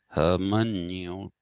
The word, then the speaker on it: hermeneutics: i am pronouncing it herman newton right and that is the greek way of pronouncing it because this is a greek word it basically came from